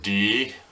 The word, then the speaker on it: Dieffenbachia: But it's pronounced Dieffenbachia.